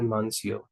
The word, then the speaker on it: Monsieur: Actually, it's pronounced as Monsieur.